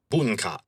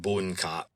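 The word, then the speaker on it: bunka: Civilization in Japanese is buna. Buna. You would spell that B U N K A.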